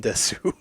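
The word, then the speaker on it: です: Uh, you're rarely ever going to pronounce the U at the end of stuff. Oh, So, really? des. Boku wa baka gaijin desu.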